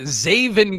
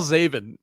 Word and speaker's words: Zaven: Okay, how do you spell Zaven? This was the question I had when I thought of the game. Is it spelled like Xavier? It's spelled like Raven, but with a Z.